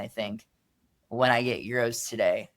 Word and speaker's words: gyro: Today, we're taking a look into the history of the often mispronounced Euro.